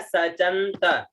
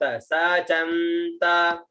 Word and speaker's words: सचन्त: उसके बाद में आता है सचंत, स च आधा न और त, सचंत।